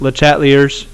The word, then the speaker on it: Le Chatelier: Okay, we are going to shift quite literally, because that's the next section, is about shifting, to Le Chatelier's principle, which in Southern Virginia is pronounced Le Chatelier's.